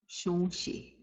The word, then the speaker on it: Shonshi: Shonshi. Shonshi. Nasalizing the O again.